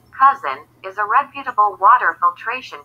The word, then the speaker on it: CuZn: Established in 1987, CuZn Water Systems Inc., pronounced CuZn, is a reputable water filtration company from Arkansas.